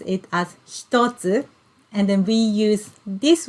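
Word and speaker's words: 一つ: can see one and then hiragana two we pronounce it as stotsu and then we use this word to count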